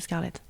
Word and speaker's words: Scarlette: deux j'aiess j'ai vraiment on a essayé avec toute l'équipe de de le prononcer à la française Scarlett et ils le